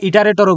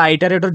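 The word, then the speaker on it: iterator: counter variable এটাকে আমরা ইটারেটরও বলি ইটারেটর বা আইটারেটর যেভাবেই প্রোনাউন্স করি না কেন আইটারেটর মানে হচ্ছে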